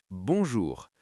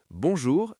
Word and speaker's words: bonjour: Bonjour, c'est toujours correct. Écoutez bien la prononciation. Bon jour. 2 syllabes.